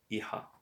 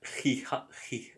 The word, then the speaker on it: hija: It's not hija, hija, because the H is silent and the J is like a h.